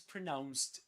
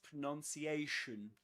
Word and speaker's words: pronunciation: This is the verb which is pronounced differently from the um noun. The noun is pronunciation pronunciation. But this one is pronounce pronounce.